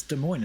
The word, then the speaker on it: Des Moines: Yeah, that's how the locals pronounce it, Des Moines.